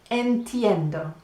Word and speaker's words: entiendo: Do, like Homer Simpson would say, do.